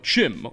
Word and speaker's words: CHIM: There's this idea of Chim, or Kim as it's supposed to be pronounced, which is said to